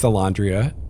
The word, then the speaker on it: Elandria: the elodran uh when i came up with alondria i was just trying to think of something